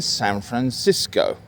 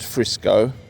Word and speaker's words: San Francisco: so here I am in San Francisco not Frisco not sanran you can call it SF if you want and I have noticed that some locals call it San Francisco in kind of two syllables really with a very interesting H in the middle that I'll have fun